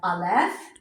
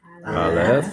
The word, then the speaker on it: Aleph: So we have Aleph, Aleph. is silent, Silent.